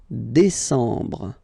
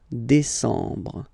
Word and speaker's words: décembre: And the last one, décembre, décembre, décembre. Same thing, E-M en décembre.